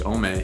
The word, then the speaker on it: Homme: I don't think you pronounce the H, Homme.